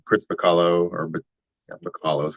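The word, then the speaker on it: Bachalo: And then a variant cover of Deadpool #1 from one of the more recent series, but it's Chris Bacallo, or Bacallo is how I pronounce his name.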